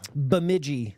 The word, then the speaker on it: Bemidji: Or just you would know how it's pronounced. Bemidji.